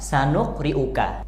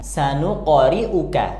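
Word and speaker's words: سَنُقْرِئُكَ: tadi di bagian ini memang tulisan Latinnya sanuqriuka tapi kita harus bacanya sanuqoriuka qof sukunnya dipantulkan karena ini huruf Qalqalah terus di bagian ini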